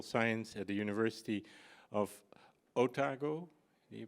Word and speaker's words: Otago: pathology and biomedical science at the University of otago you pronounce it like that and in Christ Church